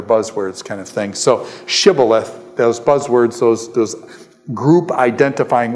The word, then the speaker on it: shibboleth: So what I'm saying is when they cross here, he says, say shibboleth, and they say sibboleth.